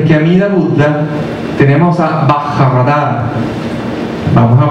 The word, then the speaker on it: Vajradhara: Bien, primero que nada, antes que Amida Buddha, tenemos a Bajaradara. Vamos a pronunciar ese nombre. Bajaradara.